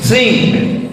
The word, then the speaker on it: think: Think, positive thinking, berpikir, bukan thinking. Think, tas, t sama h itu bacanya think.